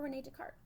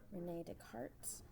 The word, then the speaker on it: Descartes: Rene Descartes. I know what it looks like it says in English. It's not how you pronounce it. In French, he was French.